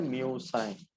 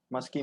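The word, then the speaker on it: Musci: इसका प्रोनाउंसिएशन करना है म्यूसाई, मस्की मुस्की नहीं करना.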